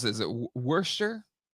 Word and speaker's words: Worcester: So how do you pronounce it? Is it Worcester? Worcester.